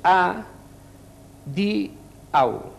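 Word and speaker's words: adiaŭ: dues i tres, és A, di, au. O sigui, això, la A i la U a la mateixa síl·laba. I la pronunciació forta a la penúltima vocal, que és la I.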